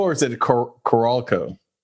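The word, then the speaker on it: Carolco: it's probably is it Carol Co or is it caral co everybody in the building used to say Carol Co Carol Co yeah but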